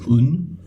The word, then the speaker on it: 運: Luck, destiny, you just pronounce it as un.